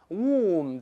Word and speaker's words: womb: 你像子宫 womb w o m b，不能读成 womb，要读成 womb 就好了，等等等等啊。